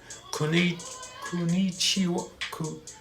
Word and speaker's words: こんにちは: And that's not how you pronounce it. I know I'm pronouncing it like American. It's like konnichiwa.